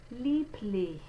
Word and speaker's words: lieblich: The most common errors that I hear with this sound would be k, which it's not a K sound, sh, it's not that, and it's also not this violent cat hiss. So it's more delicate. Houston, lieblich. Sind is the next word.